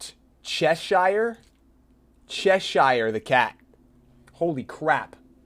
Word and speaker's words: Cheshire: kept forgetting what is and how do you pronounce that's Cheshire Cheshire the cat wholly crack Cheshire thing that